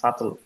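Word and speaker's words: subtle: এই ওয়ার্ডটা এস ইউ বি এল ই beta উচ্চারণ হয় না সাটল সাটল মানে হচ্ছে সূক্ষ অতটা স্পষ্ট না লুকায়িত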